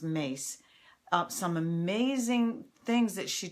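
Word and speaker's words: Myss: anything by Carolyn and I think her name is pronounced mace some amazing things that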